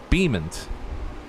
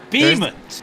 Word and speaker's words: Beaumont: It should sound like and look like Beamont. Beamont? Yeah, there's no URO in the name.